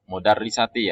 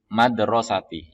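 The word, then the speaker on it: الْمَدْرَسَةِ: Maka bunyinya adalah babu al-madrasati, bukan mudarrisati ya. Jangan sampai terkecoh di sini. Ini banyak yang teman-teman kemudian bacanya adalah mudarrisati. Tapi madrasati, yakni sekolah.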